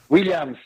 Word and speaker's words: Williams: Williams.